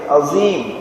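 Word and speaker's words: عظيم: ருக்குவில் ஓத வேண்டிய திக்ர் சுபஹான ரப்பியல் அலீம் கிடையாது அஸீம் சுபஹான ரப்பியல் அஸீம் அதை உச்சரிக்கக்கூடிய முறையில் கவனம் இருக்க வேண்டும் அலீம் என்று சொன்னால் மிக அறிந்தவன் என்பதாக அர்த்தம் அஸீம் என்பதாக சொன்னால்தான் என்ன அர்த்தம் மிகச் சிறந்தவன் என்பதாக அர்த்தம் சரியான உச்சரிப்புடன் சொல்ல வேண்டும் சுபஹான ரப்பியல் அஸீம் என்பதாக சொல்ல வேண்டும் ஏழாவது சுன்னா எட்டாவது சுன்னா ஏழாவது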